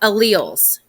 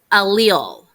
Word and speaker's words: allele: determines what our genes are so let's talk alleles so this is some more vocabulary that is a little tricky so this word right here is pronounced allele allele it's like uh i think of ali